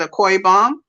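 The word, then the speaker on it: Akwa Ibom: we are in is aqua ibom or a koi bomb that's how we pronounce it a koi bomb and the city is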